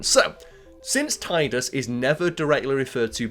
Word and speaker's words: Tidus: fans is sometimes unclear his name in Japanese is slightly different approximately pronounced Tida and therefore the assumption is the first syllable pronounced the same in his English name the pronunciation of his